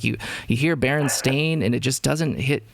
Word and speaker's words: Berenstain: e-i-n and being either being pronounced berenstein or bernstein uh but not baron stain and that's something that